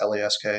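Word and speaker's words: LASK: cup with salzburg against lasque yeah i think it's larry just pronounced l-a-s-k yeah l-a-s-k uh he had a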